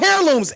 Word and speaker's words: heirlooms: You bet ALL THIS YOU know heirlooms. H E I R L O M M L O O. Yeah, the H the H is silent on that one, brother.